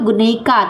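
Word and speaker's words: γυναίκα: Kemudian Guneika, huruf YNAIK. Nah, itu tuh bacanya tuh Guneika, teman-teman.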